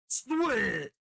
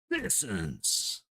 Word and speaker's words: Sissons: and his 100th career goal, number 10, Colton Swit. Shit, I butchered that, didn't I? Colton Sissons with an assist by number 42, Braden Bowman.